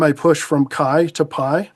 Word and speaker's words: PAI: So, the project is called Pi, which unfortunately rhymes with Kai.